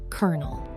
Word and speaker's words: colonel: Number two, colonel. How about this military rank? It looks like colonel, but it is actually pronounced exactly like a kernel of corn.